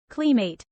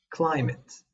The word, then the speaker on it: climate: A word that could be easily mispronounced as clmate when it actually should be pronounced climate. Climate.